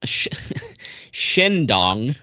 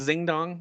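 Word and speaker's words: Xindong: don't need this information well so developer uh shendong Network s it's with an X it's like yes that's pronounced yeah yeah and also it's not zingdong okay but yeah so this was developed by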